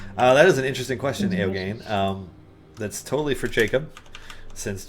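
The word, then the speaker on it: Eoghan: That is an interesting question, Eogane. That's totally for Jacob, since Jacob is the master of all things WebGL. I thought you pronounced that.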